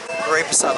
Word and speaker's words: reposado: Sorry, I'm saying it wrong now because they keep saying it wrong and now I'm pronouncing it like them. Okay. Repasado.